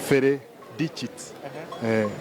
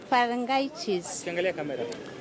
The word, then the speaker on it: pharyngitis: So we say pharyngitis, not pharyngitis, not pharyngitis, yes, and all that.